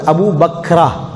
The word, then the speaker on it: அபூபக்ரா: buck Abu Bakr அப்படித்தான் சொல்லணும் ஒரு இன்னொரு நபித்தோழர் இருந்தார் ஒரு தாயிப்பை சேர்ந்தவர் அபூபக்ரா கடைசில தா அல் மரபூதா அபூ பக்ரா என்ற நபித்தோழர்